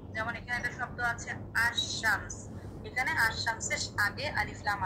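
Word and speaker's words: الشمس: যেমন এখানে একটা শব্দ আছে আশশামস। এখানে আশশামসের আগে আলিফ লাম আছে। এখানে লামটা আমরা উচ্চারণ করছি না।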